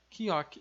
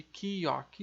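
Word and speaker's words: 기역: Então aqui no caso, esse nosso K ou G, que eu já vou explicar melhor, a pronúncia dela vai ser chamada de Kiok.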